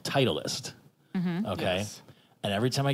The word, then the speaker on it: Titleist: in my head is tit least because that looks like the German pronunciation of it and Titleist isn't a